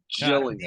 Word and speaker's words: Gillingham: That's the difference, because they're the Gills, except their name is pronounced Gillingham.